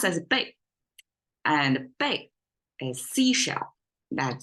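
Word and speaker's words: 贝: one is the ancient currency symbol which is pronounced as big and big a seashell that used uh used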